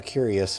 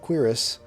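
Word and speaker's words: cuirass: I've been calling it a curious but then I found out I was saying it wrong. So the gold quirus uh is better for him.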